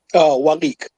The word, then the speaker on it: Walik: How do I pronounce the name? Okay. Waliq. Yeah, that's Walik. Wally.